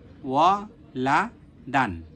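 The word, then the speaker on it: وَلَدًا: জবর লা লা দাল আলিফ দুই জবর দান ওয়া লা দান লা দান লা দান এরপরে একসাথে উচ্চারণ করব ওয়ালাদান ওয়ালাদান ওয়ালাদান এগুলো যখন হয়ে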